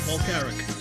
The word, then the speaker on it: Paul Carrick: Paul Carrick.